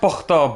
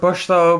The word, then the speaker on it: Pukhto: It's pronounced Pukhto, but it's spelled differently in English for some reason.